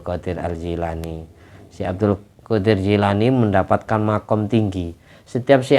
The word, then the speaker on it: Gilan: Kan biasanya Gilan itu bacanya Jilan, bahasa Inggris ya, Jilan, Al-Gilani.